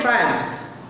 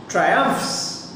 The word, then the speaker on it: triumphs: triumphs we normally say triumphs we normally say triumphs but over here for the sake of emphasis Satan pronounces it triumphs God enjoys he's enjoying